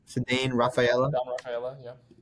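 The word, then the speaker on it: Ceddanne Rafaela: Rafaela.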